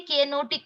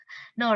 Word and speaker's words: know: Do you say K-N-O-T, knot? No. What is it? The actual pronunciation? Knot. Okay. Please tie a knot. Knot. Next one. K-N-O-W. Is it kno? No, right? It is no.